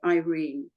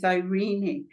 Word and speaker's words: Irene: Irene and the Irish say Irene but the proper pronunciation is irini and it has a much better ring to it irini Bradshaw than Irene Bradshaw you know so I really insist on that pronunciation I agree it's a